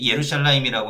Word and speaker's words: 예루샬라임: 예루샬라임이라고 하는 거는 히브리어식 발음이에요.